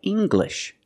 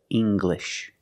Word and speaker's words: English: When you have an L after it, it makes the G sound, like English. Make the hard G, English.